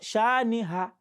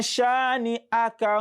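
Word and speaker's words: شانئك: So don't pronounce inna shani'aka. So be very conscious of what you pronounce. Inna shani'a, shani'a, not shaniha, not ha, but ah, ah. Inna shani'aka huwal abtar.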